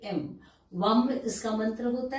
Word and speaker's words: वं: जो चक्र है सक्रल चक्र जो है वो वम वी ए एम वम इसका मंत्र होता है सोलर चक्रा के लिए